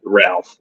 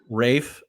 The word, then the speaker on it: Ralph: his mother gave him Rafe fines Rafe Rafe we talked about this no we didn't his name is not Ralph Ralph Lauren no it's Rafe there's no [ __